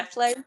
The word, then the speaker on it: Athlone: I think it's called, is it pronounced Athlone? Yeah. Athlone.